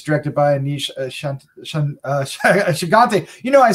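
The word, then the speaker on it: Aneesh Chaganty: dark dark secret from her it's directed by a niche uh shigante you know i said it right during the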